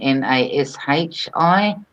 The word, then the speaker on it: nashi: Western society would probably spell it as in Nashi, as in sh, but it's actually spelled Nasi, which is nashi.